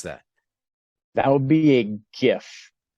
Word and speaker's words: GIF: they're spelled gif yes yep how do you pronounce that that would be a gif like a gift without the tea okay that